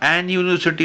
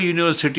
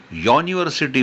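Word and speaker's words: university: त्याचा उच्चार होत असेल जस आपण मगाशी म्हटल ना युनिव्हर्सिटी स्पेलिंग सुरू होते युनी तर वास्तविक पाहता अन युनिव्ह्सिटी म्हणायला पाहिजे पण तसं न होता अ युनिव्हर्सिटी होतं कारण त्याचा उच्चार इंग्लिश लोक युनिव्हर्सिटी म्हणतात हा अपवाद आपल्याला कुठेतरी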